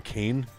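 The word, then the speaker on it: Kain: pronounce your first name Kane is it like Kane Kane right like k a n e essentially k a i n kane like that's how it's pronounced you Irish man killing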